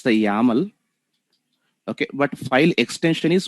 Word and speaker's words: YAML: here second one is actually input file okay pronunciation we actually call as it's the yaml okay but file extension is yml only remember